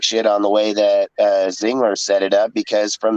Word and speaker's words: Ziegler: Ziegler.